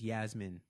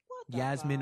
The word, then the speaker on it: Yasmin: Also, the lost child's name is Yasmin. Yasmin or Yasmin, depending on how, I've seen it pronounced both ways, but like Jasmine with a Y, Yasmin St.